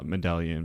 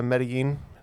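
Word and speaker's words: Medellín: um and um Med I know it's not pronounced Med Medallion but I know it's it's spelled almost like Medallion um um are you talking about uh medin medin yeah I'm sorry I'm awful with uh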